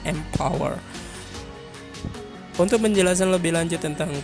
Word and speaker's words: MPWR: digitalnya yang bernama Mpower, atau biasanya kalau tulisannya adalah MPWR, tapi menurut Indosatnya ini dibacanya Mpower.